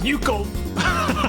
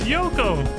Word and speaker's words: Yoko: The other times he says her name, it's Yoko! You know, like everybody else. Because that's how it's spelled and that's how you say it.